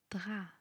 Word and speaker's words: drap: champ, cou, loup, trop, drap. La règle est que le P en fin du mot ne se prononce pas.